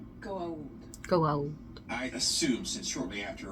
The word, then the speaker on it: Goa'uld: There should be an apostrophe after the A before the U. It's pronounced... Go out.